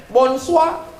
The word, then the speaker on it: bonsoir: Tulisannya Bonjour bacanya bonjong tulisannya bonsoir bacanya Bones wa siapa nama kamu ngomong